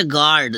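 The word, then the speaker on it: guard: आ रहा है तो यू क्या हो गया साइलेंट गर्ड जी से ग ए आर डी गर्ड ठीक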